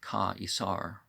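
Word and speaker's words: Καῖσαρ: roman could suffer and in greek you have ka isar um yeah because it's spelled with that i instead of the e um upon this they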